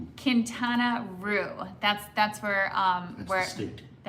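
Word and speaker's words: Quintana: And Bennett, how do I pronounce Kintaroo? Kintana. Kintana.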